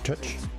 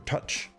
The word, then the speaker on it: Terk: So it's spelled T-E-R-K, but touch. Sounds like he says touch more than. Simulasyon, simulasyon, touch. Not touch as in English touch, but Turkish whatever touch means.